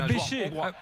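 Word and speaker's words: Bese: Non, chez nous, on dit Barnabas Béché, en fait. Hein. Ah, Béché. Ouais. Ah, d'accord, parce que c'est écrit B-E-S-E, c'est pour ça.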